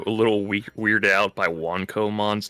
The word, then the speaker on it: Wanco: Uh, because they thought it was wanker cuz they thought it was like you pronounced like Wanko. I was like, um, is that a problem? It's like, no, it's Wanco because of the W one.